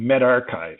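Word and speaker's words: medRxiv: to the journal and med archive how many of you thought that was med archive that's will you pronounce it where that's the are and that's Chi from chi squared test or however you want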